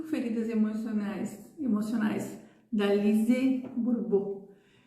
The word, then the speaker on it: Lise Bourbeau: Do livro das 5 feridas emocionais da Lise Bourbeau. Lise Bourbeau, na verdade, é a pronúncia correta.